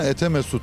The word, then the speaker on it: Etimesgut: bunlarda Elvankent'te oturuyoruz diyorlar etimesgutu kullanan sadece merkezdeki eski Etimesgut'ta oturanlar bunlarda Etimesgut yerine etemesgut diyorlar Çünkü Etimesgut kelimesi Türkçe değil telaffuzu çok zor ve bir anlam ifade etmiyor buranın eski ismi zaten